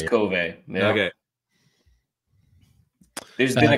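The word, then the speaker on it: KOVE: yeah yeah is it is it Cove or kov kov is it kov it is kov yeah okay there's been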